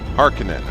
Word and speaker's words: Harkonnen: Yeah, Harkonnen is I think the proper way to say it. It's like I always pictured it with two O's in the middle for some reason.